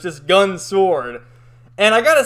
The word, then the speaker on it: Gun x Sword: gun x sword but as most series that have x in it it's not pronounced so it's just gun sword and i gotta say